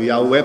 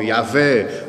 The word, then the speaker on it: Yahweh: Eu falo o Yahweh porque é da maneira como eles falam. Há outros que falam Yahvé, há outros que falam Javé, e há outras traduções